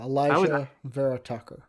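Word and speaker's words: Alijah Vera-Tucker: Yeah, Elijah Vera Tucker. Yeah, I always just call him Vera Tucker, so I never even really thought about it. Elijah Vera Tucker, that was JD.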